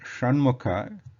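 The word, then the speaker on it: षण्मुख: Then, so for the word Shanmukha, this Sha, which is Murdhanya Sha, is used. And the similar to the same Vishnu is also to be pronounced with the Shan, like Shanmukha Sha, that is Murdhanya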